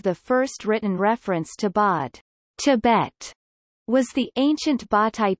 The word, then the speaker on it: བོད: The standard Tibetan pronunciation of Bod, P-O stroke, is transcribed Bo in Turnadre phonetic transcription, Bo in the THL simplified phonetic transcription and Poi in Tibetan pinyin.